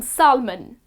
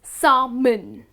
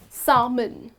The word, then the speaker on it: salmon: is not pronounced as salmon well the correct pronunciation of this delicious and nutritious fish is salmon okay so you do not pronounce the l in it it goes like this salmon okay i would like